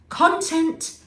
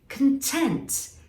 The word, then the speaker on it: content: content so you see the difference there is in the emphasis on the syllables content what's inside something content being happy or satisfied c-o-n-t-r-a-c-t a contract is